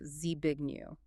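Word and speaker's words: Zbigniew: to the ear because the English phonotactic rule book says the Z sound and the B sound cannot bond at the onset of a syllable. But in Polish, that exact same combination is a perfectly legal structurally sound molecular bond. You see it in very common names like Z big new.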